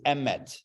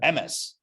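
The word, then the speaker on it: אמת: The Hebrew word for truth is emet, or as Ashkenazim pronounce it sometimes, emes, right?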